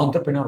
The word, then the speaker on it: entrepreneur: यस और since वो French words है ना इसके लिए इसको अपन एंटर नहीं बोलते। इसको अपन एंटरप्रेन्योर बोलते हैं मैम।